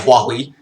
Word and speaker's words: Huawei: Is that how it's pronounced? Yeah, Huawei.